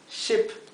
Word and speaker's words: ship: en la clase pasada, ship, es barco. Así que esto es ship y esto es sheep.